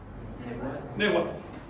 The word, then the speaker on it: nehuatl: Te estás comiendo un saltillo que realmente hay y te estás comiendo un fricativo. ¿Qué quiere decir un fricativo? Así que no es uatl. Uatl es una pronunciación vocálica.